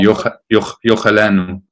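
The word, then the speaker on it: יֹאכְלֶנּוּ: And one rule is if the undageshed, the undotted letter over the Sheva is preceded by a cholam, then it should be sounded. So here it would be yochalenu.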